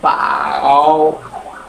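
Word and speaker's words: 饱: উচ্চারণ কিন্তু সেম কিন্তু টোনের কারণে উচ্চারণ হবে আলাদা এটা হচ্ছে ফারস্ট ফ্লাট আকারে যাবে আর এটা হচ্ছে থার্ড পাও এই পাও মানে কি?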